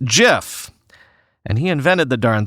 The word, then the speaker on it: GIF: despite the fact that Steve Wilhite who created the graphics interchange format said in 2013 that it's pronounced jiff and he invented the